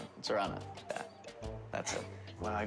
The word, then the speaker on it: Zorana: She's corrected me about 4 times tonight on how to pronounce her name. Zorana? Is that right? Zorana.